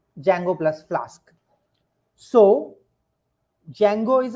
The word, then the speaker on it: Django: offering is python plus Jango many people who have seen a python must have heard about something called Django it's not Django D is silent please don't say that in interview although you haven't meant